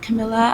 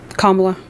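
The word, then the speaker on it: Kamala: And um why I did support Trump was because I literally have watched Camila and Trump.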